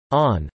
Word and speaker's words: ann: This is due to the Irish word an pronounced o-u-n or on, fulfilling both meanings.